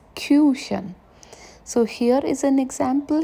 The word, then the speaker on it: Küchen: Make sure you pronounce it right. It's Küchen.